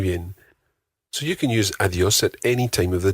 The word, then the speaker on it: adiós: Goodbye in Spanish is adiós. Adiós. Adiós. Adiós. Try to get that soft D in there again. Think of the word the.